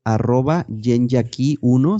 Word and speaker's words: yenyaki1: Y el último es de @yenyaki1, se escribe con Y, Y-E-N, Yen, luego otra vez Y, Ya, Y-A, y luego Ki, como llave en inglés, Yenyaki1.